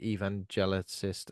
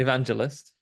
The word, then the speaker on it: evangelist: TV which are like evangelicist. Is that how you say it? Tele television and I can never say that word. You're gonna have to say it for me, Andy. Evangelist. Evangelist. They're Like a listening to Phil TV Collins in evangelist.